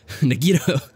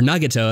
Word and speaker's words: Nagito: Nagito, or Nagato, as I should probably say is the correct pronunciation.